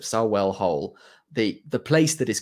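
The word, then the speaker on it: Sarehole: suppresses creativity uh so I went to saell I can can pronounce it sell hole the the place that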